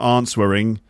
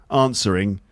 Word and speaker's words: answering: It's got a silent letter in it. Where's the silent letter in answering? Of course, it's the W. So it's not answering. No, answering. Yeah, I could normally say